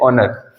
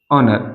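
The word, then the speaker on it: honour: को देखते हैं जैसे ओनर ओनर अब इसमें तो ए है सर हम कहना हम इसमें एच का प्रोनंसिएशन क्यों नहीं कर रहे क्योंकि जब भी एच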